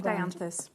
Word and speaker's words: dianthus: Trying to pronounce the dianthus. Tricky one to get your tongue. Danthus.